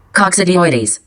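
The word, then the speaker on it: Coccidioides: know how to pronounce that word how you pronounce that word speak coxidoides coxidoides at um s okay so fungi less compassions include coxidoides the hystopplasma capsulate often associated Pacific environmental exposure.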